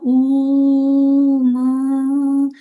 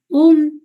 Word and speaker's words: ओम: इसका जो मंत्र होता है, वैसे ओम होता है, लेकिन इसको जब उच्चारण करते हैं तो ऊ म, इस तरीके से इसको उच्चारण करने का एक विशेष तरीका होता है। ओम ओम डायरेक्टली ओम नहीं बोलते हैं।